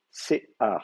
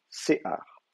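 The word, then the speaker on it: שֵׂעָר: Normalement, la vocalisation c'est séar. Si vous regardez le terme dans votre dictionnaire, donc on vous dit que ça s'écrit serré et kametz, séar. Donc normalement vous avez séar, c'est comme ça, voilà. Vous avez Mhm. séar, l'accent est ici normalement.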